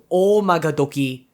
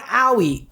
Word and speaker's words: Oumagadoki: the topic real quick it's not owie guys i mean i get not being able to get o magadoki it's hard but i specifically told you that it's three syllables it's not owie it's